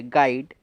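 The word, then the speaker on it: guide: कि use silent है गाइड गाइड में यूज साइलेंट है और यु के बाद एक और एक अव्वल है इस वजह से भी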